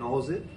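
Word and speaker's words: nous: জড়িত সেটা হচ্ছে একচুয়ালি নজের অর্থ এন ও ইউ এস উচ্চারণ করে এন এ ডব্লিউ এস নজ এটা দেখছিলাম আমি এবার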